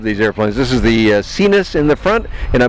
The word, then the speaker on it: Sinus: virus in the back I know those names don't sound like they're pronounced that way but that's how they want said because Americans have an attitude about sinus and virus so cenus and virus it is yes and that